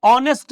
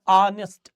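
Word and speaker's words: honest: इसी तरह से ऑनेस्ट बॉय में बच्चों एच साइलेंट होगा। बोलने का काम हम लोग क्या करते हैं सर? ऑनेस्ट। ऑनेस्ट बोलते हैं।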